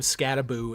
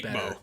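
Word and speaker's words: Skattebo: Dragons with $1.99 said, why do you talk crap about Cam Scataboo in that skit? The skit you're referring to... Is that how you pronounce that?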